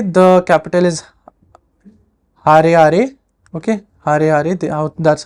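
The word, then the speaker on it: Harare: Zimbabwe so Zimbabwe the capital is har okay har that's how to say it and Zimbabwean dollar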